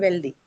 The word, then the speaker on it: wealthy: It's well then wealthy. So it has a Y suffix. What did we look at? If this Y suffix at the end, then how does the stress work? the first syllable is stressed.